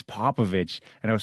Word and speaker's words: Popovich: Erin Popovich.